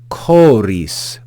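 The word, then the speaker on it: χωρίς: then have the word choris choris you see the the letter Ki or Chi it's pronounced like the hard CH in chorus chorus so we have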